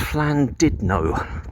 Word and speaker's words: Llandudno: I think it's pronounced Llandudno Town Football Club in North Wales.